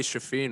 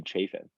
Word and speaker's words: Chafin: Big Daddy Shafeen was pumped up about that one.